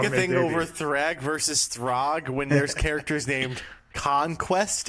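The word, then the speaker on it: Thragg: I really going back a little bit further to in our conversation to Thrag Thrag, however you say his name. Throg.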